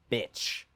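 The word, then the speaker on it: Bich: His name in French is pronounced bitch.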